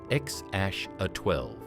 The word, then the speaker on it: X Æ A-12: Musk and Grimes later clarified that the name was pronounced X aash A12.